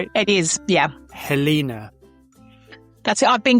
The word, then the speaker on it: Helena: Your name is pronounced Helena, right? It is, yeah. Helena.